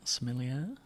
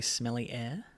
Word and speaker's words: sommelier: wrong, but a wine sommelier. It's pretty good. Sommelier. Yeah. Someone was telling me I'll just say smelly air, and I feel like that's really insulting.